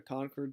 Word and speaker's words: Concord: Concord today my people would say that's a mispronunciation but Concord Massachusetts that's how it's pronounced he is going